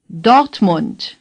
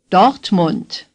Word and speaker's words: Dortmund: Monde say docked Mont for this oh you again open your mouth a little wider than the Oh in a NOFA say oh the R is hardly pronounced dot say dot the you in Mont is like the you in Hamburg Mont say Monde say dot